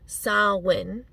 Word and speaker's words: Samhain: Gaelic Festival known as sarwin is where Halloween comes from the ancient Gaelic festival sarwin and it's spelled s-a-m-h-a-i-n but pronounced sarwin it was um basically